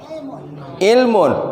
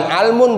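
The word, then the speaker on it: عِلْم: Masdarnya apa? Ilmun, bukan almun, bukan ulmun. Kok jadinya ilmun?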